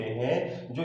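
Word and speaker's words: whose: हु में एच को क्या किया जाता है, प्रोनाउंसिएशन किया जाता है। मतलब कुछ वर्ड होते हैं जो इस नियम को क्या नहीं करते हैं, फॉलो नहीं करते हैं।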